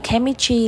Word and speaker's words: chemistry: tiếp tục chemis Rồi cái từ này là trong từ chemistry là hóa học đúng không ạ sẽ là K nhá là chạo âm 1